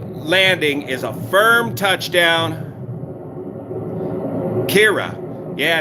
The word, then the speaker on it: Ciara: auto thrust kira now i've heard four different ways of pronouncing it pronounce it kira so we got about